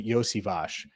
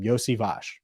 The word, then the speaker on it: Iosivas: this name right Andre iosivage that's right Andre yosevash is who they picked in round six and